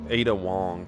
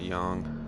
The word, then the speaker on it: Ada Wong: Ada Wong, not Young.